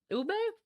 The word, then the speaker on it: ube: Ube.